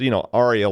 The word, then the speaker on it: Aria: operation, or ARIA, sorry, I'm going to pronounce it correctly. So it's, ARIA, like the thing in an opera where somebody sings a solo.